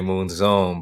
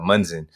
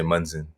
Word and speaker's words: Munzon: uh you know well in the philippines a lot of people like to say moon zone but you know for me growing up out we pronounce our names at munzen so you know i